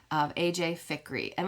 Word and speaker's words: Fikry: the storyed life of AJ ficky I believe is how you say it f i k r y of AJ ficker and like I said